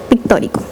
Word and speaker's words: pictórico: Pictórico. Con acento en la O.